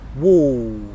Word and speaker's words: wall: Just a point, when I'm saying it with the L sound afterwards and I'm making the ɔ sound, wool, okay, I'm really feeling tension all down here.